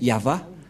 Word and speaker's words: Yahvah: Yod, He, Vav, He. C'est l'alphabet hébreu qui est prononcé Yahva.